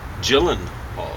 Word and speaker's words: Gyllenhaal: And Maggie Gyllenhaal is actually how you say it.